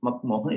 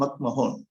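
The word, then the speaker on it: McMahon: இட் இஸ் நாட் மக்மோகன், இட் இஸ் மக்மஹோன்.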